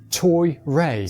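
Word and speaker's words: トイレ: but the easiest is toi ray wa doko desu ka? Now this word comes from toilet, but the pronunciation is more like TOY RAY.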